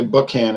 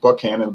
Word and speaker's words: Buchanan: days you can and some people say book Han and I think that's kind of the old way of pronouncing nothing when they had